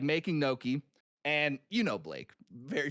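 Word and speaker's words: gnocchi: is because there's a Noki class uh, teaching you how to make, uh, apparently it's not pronounced ganinoi. Uh, it's the G is silent.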